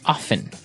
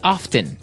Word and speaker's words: often: Now with pronunciation some people like to pronounce often, right? They kind of leave out the strong T sound while other people say often.